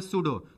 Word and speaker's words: pseudo: छदम मतलब सूडो, PSEUDO, P silent पढ़ते हैं सूडो, तो सूडो सॉलिड।